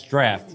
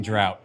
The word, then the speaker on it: Draught: So the first thing I just want to address is that it's draft. It's not fucking drought. Drought is spelled with a goddamn O.